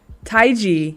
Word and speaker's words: Taiji: featuring sale Tai Chi there's different ways to say his name it depends if you know how to pronounce this he felt me just I always like mess up tight Taiji yeah so Taiji okay Taiji okay and I know